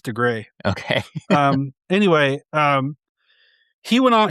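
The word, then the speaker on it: Dougray: Is it pronounced Dugray or Doug Ray? I think I'm butchered that. I think it's DeGray.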